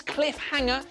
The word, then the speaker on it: Cliffhanger: Ça se prononce Cliffhanger parce qu'il y a deux mots collés ensemble, c'est Cliff and Hanger, qui veulent littéralement dire s'accrocher à une falaise.